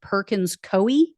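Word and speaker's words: Perkins Coie: firm called I think it's pronounced Perkins koi Co i e anyway took away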